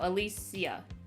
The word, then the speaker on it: Alicia: No, Alicia.